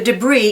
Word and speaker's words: debris: Cece swam through the debris in the seas to see the imaginary Isle of New Arkansas. And there's a silent S in Arkansas at the end, and a silent S in the word debris.